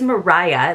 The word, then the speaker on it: Maria: bit because one of her cousins it is Mariah that's how it would be pronounced but uh it do it is spelled